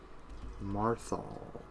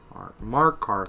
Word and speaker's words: Markarth: No, yeah, Marthal. Markarth. I'm retarded. For some reason, I kept saying Marthal, and I'm like, that is not what this motherfucker says.